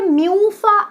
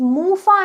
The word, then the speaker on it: MUFA: बहुत से लोग इन्हें म्यूफा एंड प्यूफा बोलते हैं। इज मूफा एंड पूफा, नॉट म्यूफा एंड प्यूफा, ठीक है।